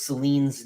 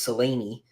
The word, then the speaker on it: Selene: And so they've been saying Princess Celine's name, Celine. It is not Celine. It is Selene. The Greeks would say Selene.